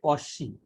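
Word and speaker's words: Cauchy: আচ্ছা, এটা এক্স্যাক্টলি উচ্চারণ হচ্ছে কশি। হ্যাঁ, কশি। তো বাট আমাদের কচি বলে বলে অভ্যাস হয়ে গেছে, তো কচি বলতেছি।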